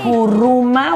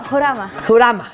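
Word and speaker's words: Muharram: No, es que en el árabe el H sí tiene sonido. Jurama. También aquí, si no, horcata sería, en lugar de horchata sería No, horchata.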